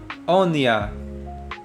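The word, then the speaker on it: אניה: Next is oniyah. Spelled with aleph.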